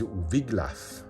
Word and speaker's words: Wiglaf: This is Wiglaf, I believe is how you pronounce his name, one of his most loyal retainers, and the two of them go together to defeat the dragon.